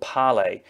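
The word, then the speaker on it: Parler: It's called Pellowe, and it's spelt P-A-R-L-E-R. It's a French word which basically means dialogue.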